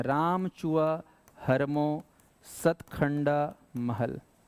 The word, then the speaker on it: राम चुआ: कर यहां पर राम चुआ आपको बोलना है उच्चारण करना है राम चुआ हर्मो सतखंडा महल तो राम चुआ हर्मो को